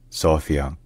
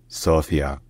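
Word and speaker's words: София: and economic Center so locally in Bulgarian the city is called sopia sopan so yeah sopia all right if you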